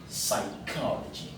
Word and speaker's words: psychology: Voilà, psychology. Donc on ne dit pas psy. Donc le P n'est pas prononcé.